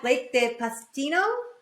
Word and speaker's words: Blake de Pastino: I had Blake de Pastino, right? Am I saying it correctly?